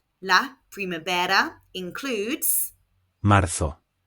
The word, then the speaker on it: marzo: In European Spanish, Z is pronounced th, so this is marzo. In Latin American Spanish, Z is pronounced s, so this would be marzo. I speak European Spanish, so I will be saying marzo.